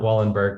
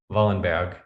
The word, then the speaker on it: Wallenberg: the way and now we know it's not wallenberg but vollenberg syndrome thanks to shema and sammy um i